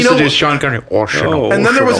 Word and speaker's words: Oceano: Fucking for years, people were saying Ocean Zero, Oceano. Oh my gosh, Ocean. really? It's Yeah. okay. Oceano.